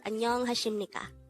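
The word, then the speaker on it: 안녕하십니까: is pronounced as hashimnika lastly read this this pronounced as anyong hashimnika congrats up next on their angle we're going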